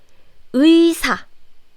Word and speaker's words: 의사: We only pronounce this 의 sound like this, 의 sound, when there is this 이응 consonant. 이응 is basically a placeholder, so it doesn't have any sound. It's silent. So it's 의사.